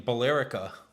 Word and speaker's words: Billerica: In Billerica.